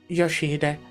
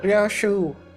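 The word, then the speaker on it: 良秀: 아니, 그 글자는 그렇게 읽는 게 아니라 No, that's not how you read those letters. 요시히데라고 읽는 거다. Yoshihide, that's how you say it. 료슈! Ryoshu.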